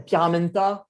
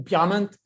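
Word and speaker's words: Pierra Menta: Ah ouais, et puis pour ceux qui ne connaissent pas la Pyramenta ou Pyramente, allez voir sur YouTube des vidéos. Donc, vous tapez Pierra, P-I-E-2-R-A, et Ment, M-E-N-T-A, parce qu'on ne prononce pas le A.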